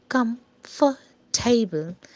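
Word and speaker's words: comfortable: जैसे यहाँ पे कम्फर्टेबल, यानी कि टेबल जो लास्ट का वर्ड है, अगर इसे तीन भाग में तोड़ते हैं कम फर टेबल, तो टेबल पे ज़्यादा फोकस है।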